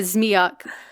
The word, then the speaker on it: zmejak: It would be a zmejak. Zmi is how you say snake or dragon. The ak ending is like kind of like a diminutive and makes it like little snake, or in the story